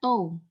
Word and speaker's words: tau: Dibacanya tau, T-O-U.